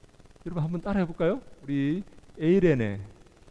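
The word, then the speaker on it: εἰρήνη: 네, 여기서 이 화평하다는 말은 이 에이레네라는 말인데요. 이 평화라는 말입니다. 그걸 화평케 하는 자라는 말은 평화를 만드는 자 그런 의미입니다. 평화를 만드는 자라는 의미가 되는데요. 이 에이레네라는 말은 헬라어인데 여러분 한번 따라해 볼까요? 우리 에이레네, 에이레네.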